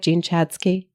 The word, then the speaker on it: Jean Chatzky: I want to talk about, because I heard you say Jean Chatzky, and I know I want to talk about your am I saying it right? Jean Chatzky? Yeah.